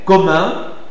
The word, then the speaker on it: commun: C'est un peu difficile mais bon, on peut toujours essayer et vous devez penser toujours à à arrondir les lèvres.